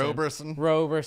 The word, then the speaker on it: Roberson: No, like he doesn't get the respect that he deserves as far as people get his name wrong. Anthony Robertson. Roberson.